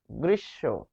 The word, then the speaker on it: গ্রীষ্ম: হয়েছে গ্রীসব ছেলেমেয়েরা অনেক ক্ষেত্রে এটা ভুল করে গ্রীষ্ম বলে গ্রীষ্ম গ্রীষ্ম না গ্রীসব গ্রীসব তার মানে শেষে রয়েছে এটি আমরা এক্সট্রা